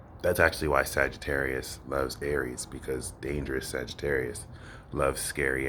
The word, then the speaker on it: Aries: This is the Peace Dealer, and this is for the moon in Aries, which rhymes with scary, because Aries could be rather scary uh, when they're not, but they usually are.